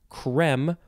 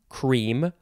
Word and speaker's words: crème: Okay, so this first word is, you can pronounce it creme or cream or crème. You could say crème if you want.